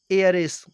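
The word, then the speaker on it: heiress: next example है एयरेस, इसमें भी एच साइलेंट है और इसका भी उच्चारण वोवेल साउंड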